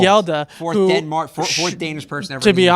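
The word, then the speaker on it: Hjalte: lineman, who I'm not going to try to pronounce his name, but you can say it for me. Yelda. Thank you. Froholt. Froholt. Yelda.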